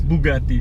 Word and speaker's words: Bugatti: Anyway, we're off to Bugatti. Let's hit it. Where are we really heading this morning? Bugatti! Hey! Yes, Bugatti. We're heading to Bugatti. It's not Bugatti. Well, how is it? It's Bugatti.